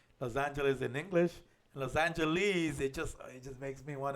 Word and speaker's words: Los Angeles: How do they say Los Angeles? Los Angeles, because the E is accentuated. Los Angeles.